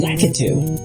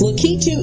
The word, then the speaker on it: Lakitu: T were both complaining a bit about the pronunciation of Lakitu. Some have, they both call Lakitu Lakitu, which is entirely wrong. I've had to correct them on a few occasions about that. But yes, Lakitu is its proper pronunciation.